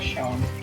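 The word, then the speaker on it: Sean: Eu não sei ler esse nome em inglês, mas acho que é Shaun. S-E-A-N. Acho que se pronuncia Shaun.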